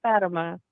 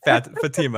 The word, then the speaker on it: Fatima: it's not Fatima. It's Fatima. I know some people pronounce it that way.